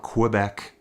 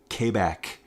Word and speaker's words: Quebec: That's how you say it, folks. It's not Quebec. That's how I usually say it. As a Western Canadian, it's Quebec. You hit that K.